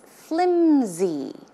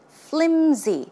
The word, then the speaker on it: flimsy: see the pronunciation is flimsy flimsy it's not pronounced with an S sound but it's closer to a z z sound flimsy flimsy